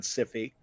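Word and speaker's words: Syfy: I believe they're pronounced Siffy nowadays.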